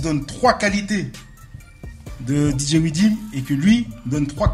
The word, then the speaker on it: Weedim: Je l'ai bien prononcé là. M. Widim. C'est ça. Bah, c'est ce que j'avais dit, non? Non. Non, c'est. Ça, je vais crier un peu, tu vois. Ah non. Widim.